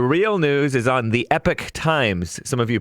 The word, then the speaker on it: Epoch Times: scare him the real news is on the epic times some of you pronounce it epoch times the epic times says usps as postal service